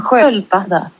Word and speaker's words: sköldpadda: En sköldpadda. Right. That's exactly what I was thinking. Sköld. Where? You see that? That's an S.